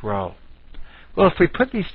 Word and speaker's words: rho: Greek letter R and spelled Rho and pronounced row well if we put